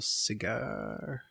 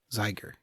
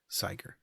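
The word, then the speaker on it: Cíger: So are we calling up Zdeno Cigar? Tiger, yeah. How do you say his name? Zeiger. Zeiger. I can't do that with a C.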